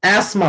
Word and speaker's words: asthma: हिंदी में आप बोल सकते हैं, बट इंग्लिश में अस्थमा नहीं होता है, एस्मा होता है। TH should be silent. एस्मा।